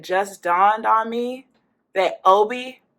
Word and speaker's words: Obie: dawned on me that Obie is just pronunciation of O-B, Off-Broadway.